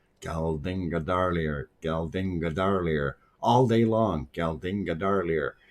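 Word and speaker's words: Geldingadalir: I drove all the way out to work, and I said, I have to learn how to say this properly. Galdinga darlier, all day long.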